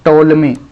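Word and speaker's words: Ptolemy: ठीक है, इंग्लिश में पी से शुरू होता है लेकिन हिंदी में टी से शुरू होता है, टोलमी। ठीक है, तो पीस में साइलेंट रहेगा।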